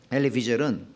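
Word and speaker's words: Elie Wiesel: 그는 엘리 비젤은, 영어권에서는 엘리 위젤이라고 읽는데, 엘리 비젤은 15세의 나치 강제 수용소에 가족들과 함께 끌려가서 가족들의 죽음을 다 경험했습니다.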